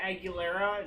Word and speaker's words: Aguilera: I want to have Christina Aguilera, is that how you say it?